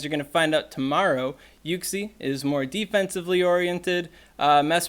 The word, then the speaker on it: Uxie: is coming out tomorrow and yes it is pronounced you see not you see look it up I'm gonna make this joke